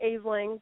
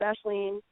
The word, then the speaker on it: Aisling: It sounds like or it looks like aling, but it's pronounced Ashen.